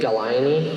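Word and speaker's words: Gallinae: Okay, Galaini, are there any alternate pronunciations?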